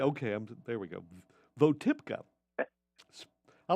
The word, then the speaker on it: Votipka: And her name is Sparrow spell it for me again, Mike. B-O-T-I-P-K. Botipka, K-A. I had to get there with you for a minute. Botipka. V-O. V. Oh, V. V as... V. Votipka.